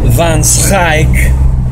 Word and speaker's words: Van Schaik: Van Schaik, pronounced in Holland, Van Schaik.